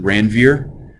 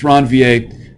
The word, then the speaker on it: Ranvier: tell yeah right it's ranvier he was a french-canadian that's how you get the pronunciation right so nodes of ranvier